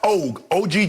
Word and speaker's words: Ogg: to do now miss i think her name is pronounced og ogg kim o who's the d.a